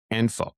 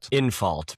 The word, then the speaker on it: Infalt: Is it N or in? Well, Infault, probably. Dan Infault. Infault. Yeah. Okay. Infault. Because that's how it's spelled. Like, okay. Infault. Yinfield? Outfield. I think I was saying Enfield or something like that. Yeah. It's INFALT. Infault.